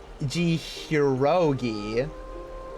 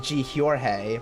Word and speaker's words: Jihyorge: Uh, so you pronounce that Jihurogi. My name is Ji Horge, but you can also just call me Jorge cuz it's a lot easier.